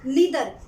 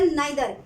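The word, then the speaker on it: neither: जैसे कि आइदर, यानी कि EITHER, इसको बहुत से लोग ईदर भी बोलते हैं, ठीक है, ईदर, कॉमा नीदर या नाइदर, तो इसकी स्पेलिंग क्या हुई, NIETHER, comma none, NONE none, comma EACH each, comma ANYNE are distributive pronoun.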